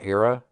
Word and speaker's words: ERRA: uh this next video I believe you pronounced an era it's erra all-capital it looks like they're